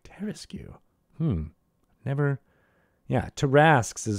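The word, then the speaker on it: Tarrasque: Does it have the QU actually pronounced as a Terraskew? Yes, I have actually heard someone who says, like, the Terraskew attacks you. I'm like, Terraskew? Never. Yeah, Tarasks is how it should be.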